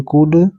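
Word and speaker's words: could: यहां पर फिर देखिए एल साइलेंट है एल का उच्चारण नहीं होगा कुड सी ओ यू एलडी कुड have HV have some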